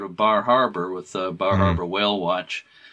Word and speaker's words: Bar Harbor: bar harbor with uh bar harbor whale watch or baja as some people pronounce it but uh it's